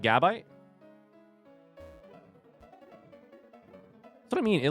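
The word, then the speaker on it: Gabite: Which one is this the emphasis on? I think it should definitely be on the on the second one. The bite. Gibble. Good bite or chomp. Is it not on that? Is it gabit?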